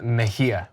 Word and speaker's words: Mejia: another California candidate in the 34th District, Kenneth Mejia. I'm sure I said that wrong. So I am the worst with names. Kenneth, how do you say the last name? Kenneth Mejia.